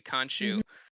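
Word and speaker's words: Khonshu: just don't believe the uh i'm never gonna pronounce his name right the moon knights sancho conshu thank you kanshu we don't believe kanchu because we just don't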